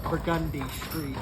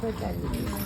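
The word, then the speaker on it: Burgundy Street: the craps is uh burgundi Street burgundi burgundi yeah which is how we pronounce burgundy when we're talking about the street burgund is the wine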